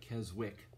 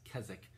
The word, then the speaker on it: Keswick: Seminary I called it Keswick but the W is not pronounced it's Kazakh and it's called Keswick